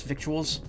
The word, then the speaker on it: victuals: victuals a speedy victuals victuals it's lingo out here on the trail doesn't look like it but it rhymes with little everyday is a school